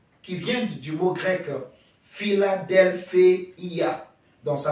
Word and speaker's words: Philadelphia: I et a donc fila Delphia Philadelphia Philadelphie et ça veut